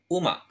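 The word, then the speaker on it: 馬: kalau dia sendiri kayak gini dia akan dibaca Uma yang artinya kuda contoh yang kedua Nah kalau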